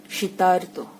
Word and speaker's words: শীতার্ত: দেখো উচ্চারণটা কেমন হচ্ছে, আর্ত, মানে আর শব্দটা, আর ধ্বনিটা আমরা পাচ্ছি, শীত যোগ ঋত, শীতার্ত।